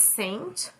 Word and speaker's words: Saint: His name is Saint, but it's spelled like sxxnt, which I find weird.